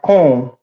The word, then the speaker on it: Koung: Blamo a little quick correction, Jeremiah Cone, it should actually be pronounced Count, as Mr. John Nisho has, pointed out. But it's spelled Koung, and then Coon is spelled Koon.